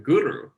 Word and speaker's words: guru: interesting concept of the guru and you do pronounce it with a bit of a rolled r like that i know that because